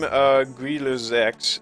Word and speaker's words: Grille Sechs: Let's go ahead and take a look at the Grille Sechs, as it is actually pronounced. I have a bit more to say about this model. So the name Grille Sechs actually means Cricket 6, but the Grille Sechs